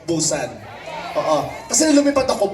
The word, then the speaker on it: Busan: time ko po sa Busan dito Tama ba pronunciation Busan Oo kasi Lumipad ako pusan Oo talaga Same lang e ' ba yung